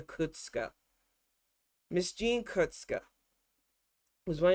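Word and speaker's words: Kuczka: It says Kusakawa, but they call her Kutska.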